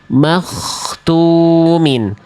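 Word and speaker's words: مختومٍ: Tapi yang betul adalah yang dnya tidak berubah huruf knya mengalir suara knya tidak tertahan. Knya tidak terputus. Knya dibaca tebal. Makhtumin.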